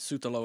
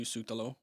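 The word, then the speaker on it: Šutalo: It's back to Sutalo. I think that's actually Shootalo, by the way.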